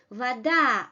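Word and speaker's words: вода: about the reduced position Vada ah is under stress and we give the full quality of this ah is under stress and we give a reduced quality of this vowel Vada Vada the stressed vowel comes with its full quality Zao this is a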